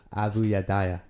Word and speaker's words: Abayudaya: uh this tribe in uganda how do i pronounce it again abu yadaya bene yehuda in uh in burgundy and these